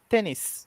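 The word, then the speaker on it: テニス: voltado à pronúncia né em tênis a gente não pronuncia né O u né a gente fala só tênis né Eh sim eh é é comum que você não pronuncie tênis né Isso é uma característica da língua japonesa onde algumas palavras com su né Principalmente terminadas em su eh não tem esse su né assim como a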